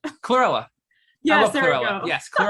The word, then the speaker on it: Chlorella: I think some people do cholera. No, I was gonna say cholera, the infectious disease. I'm saying it wrong. The little green, Chlorella.